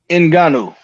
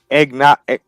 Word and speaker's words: Ngannou: Could you help me pronounce his last name? Ngannou. All right. And Egna, fuck.